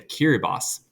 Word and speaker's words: Kiribati: This is a group of about 8 islands that belongs to Kiribati. Yes, it is pronounced that way.